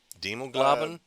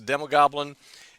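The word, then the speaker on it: Demogoblin: called the demog globin is that pronounced right demog gloin uh Goblin Goblin yeah because like the Hob Goblin oh yeah I put the L in the wrong yeah yeah a demo Goblin um h basically been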